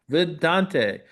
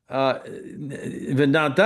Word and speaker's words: Vidanta: I'm here today with Ivan Chavez, who's Executive Vice President for Grupo Vidante. Vedanta, I should say. Vedanta, And yes. that's the correct one, the pronunciation.